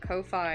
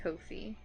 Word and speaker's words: Ko-fi: And I heard someone else call it Ko-Fi, and I was like, yes! My people. They get me. Because it looks like lo-fi. Although I do like Ko-Fi as a pronunciation, too.